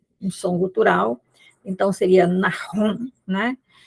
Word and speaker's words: Nahum: Então, o Naum, na realidade, a pronúncia dele é Nahum, né, com um gutural, essa letra hebraica, não é? Que às vezes a gente coloca só um H, mas o mais correto é transliterar com CH, um CH alemão, como